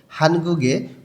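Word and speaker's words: 한국의: হানগুগে কোরিয়ার, হানগুগ অর্থ Korea, we দিয়ে র বা এর অর্থ প্রকাশ করে, উইটা যখন পার্টিকেল হিসেবে শব্দের শেষে বসে তখন এর উচ্চারণটা এ হয়।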